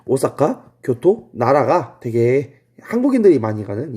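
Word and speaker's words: 京都: 얘를 일본어로 읽으면 교토 이렇게 읽어요. D는 나라, 그 사슴 얘기했던 도다이지가 했던 그 나라. 그리고 E가 오사카입니다. 이 오사카, 교토, 나라가 되게 한국인들이 많이 가는 이 여행 코스예요.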